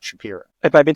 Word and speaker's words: Shapiro: It is Shapiro, not Shapiro.